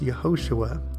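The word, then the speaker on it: יְהוֹשֻׁעַ: The original Hebrew, which is the root word behind the etymology of Jesus, is pronounced Yehoshua.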